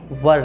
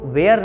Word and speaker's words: were: ध्यान दीजिएगा, उसको वेयर नहीं पढ़ते हैं, वर पढ़ते हैं। यदि आप WERE को वेयर पढ़ेंगे सो WHERE को क्या पढ़ेंगे आप, क्लियर। तो उसका प्रोनाउंसिएशन क्या है, वर, और वेयर मीन्स क्या होता है, कहाँ, ठीक।